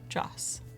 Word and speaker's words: Jos: to do something different Josh without the H jaws okay jaws thank you for letting me